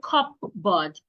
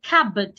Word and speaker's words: cupboard: Then we have cupboard. The P is silent. Do not say cupboard. Say cabb. Cab.